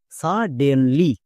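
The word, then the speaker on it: suddenly: আমরা জানি বড় বড় শব্দের শেষে যদি ওয়াই থাকে তখন সেই ওয়াই এর জন্য হস্যিকার সাউন্ড করতে হয়, এটাকে মনে রাখবা। তাই ওয়াই এর জন্য হস্যিকার। এবার একসঙ্গে উচ্চারণ করো, সাডেনলি, সাডেনলি, এরকম করে উচ্চারণ করতে হবে।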